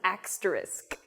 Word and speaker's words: asterisk: Similarly, I hear this with the word asterisk as well. The little star that's on like the number 8 on your keyboard or whatever, this looking thing, it's not an asterisk or what, I don't even know, it's asterisk.